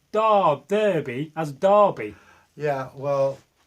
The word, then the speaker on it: Derby: as Darby yeah well this is an English spelling I assume you're from abroad Derby it's like they call a bowler hat a Derby I don't know why but Derby Lord Darby's the way we pronounce it I don't know how